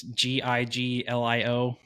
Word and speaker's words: Giglio: I'm gonna say a word that is gonna get misconstrued because it's Giglio, and if you say it the wrong way, it's gonna sound like I'm talking about something that is not Is that podcast.